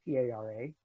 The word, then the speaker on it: para: don't say para for P-A-R-A. For one thing, the A is pronounced ah, the R is pronounced, and the P should not be, should not have a plosive element to it.